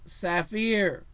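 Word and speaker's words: ספיר: that appeared to be sapphire the hebrew kaffinar pronounced saphir right so the blue stone can either be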